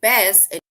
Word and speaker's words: bass: And this word, they say it rhymes with grass, or let's say grass, right? So bass and grass, and base and case.